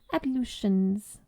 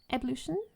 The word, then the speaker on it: ablution: Micah consumed her breakfast, then set about her ablutions. The SBR, you say it, right? Ablution? Ablution.